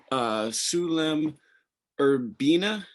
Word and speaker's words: Sulem Urbina: With Sulem Urbina.